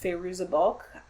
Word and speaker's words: Fairuza Balk: by none other than, I believe her name is pronounced Fairuza Balk. I might be mispronouncing that, though.